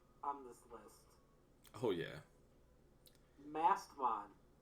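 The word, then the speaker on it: Mastemon: Mastmon. Yeah, Mast E. You do pronounce that E. Okay, Yeah. so Mastamon.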